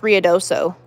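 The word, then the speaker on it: Ruidoso: ruds not um it says riodoso yeah it's riodoso it's actually pronounced riodoso is that going to be going but how's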